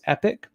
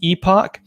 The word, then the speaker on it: epoch: If you're an American, the technical pronunciation is epic. If you're British or Canadian, the technical pronunciation is epoch.